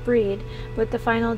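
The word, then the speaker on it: Bríd: a famous Irish saint it's pronounced with a long e breed similar to the English word breed with the final D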